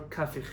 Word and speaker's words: Kafich: There is a chacham, Rabbi Yosef Kapach, or Kafich, if you pronounce his name correctly.